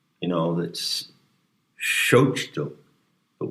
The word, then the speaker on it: Malinalxochitl: But whether you pronounce the TL in Nahua is a big issue, and it's a delicate matter. Sometimes you don't actually pronounce it, but sometimes you pronounce it as if it were a lingering whisper.